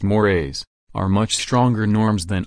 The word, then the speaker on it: mores: a bad look B morays mores pronounced mores are much stronger Norms